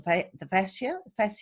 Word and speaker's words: fascia: I had never really thought about it as far as the fascia, is that how you say it?